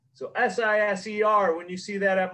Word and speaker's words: Siser: you already know, it is how to properly pronounce Siser. So S-I-S-E-R, when you see that at Michael's stores, it is pronounced Siser.